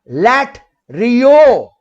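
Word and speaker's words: latreuo: Here the word worship in Greek is pronounced as LATERUO.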